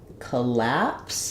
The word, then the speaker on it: collapse: Co are unstressed so in collapse the stress falls on the lapse syllable which means my letter O is going to be the schah sound it's going to sound